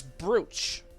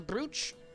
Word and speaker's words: brooch: finally let's see here i got this bruce that's how you pronounce it right it's a brooch brooch a brooch like a pretty thing that